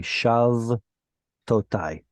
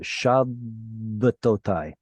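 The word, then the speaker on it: שַׁבְּתוֹתַי: If it didn't have a dagesh, this would just be shav totai. Shav totai. With the doubling dagesh, the vowel split, the consonant splits the syllable right here, and we get shabbatotai.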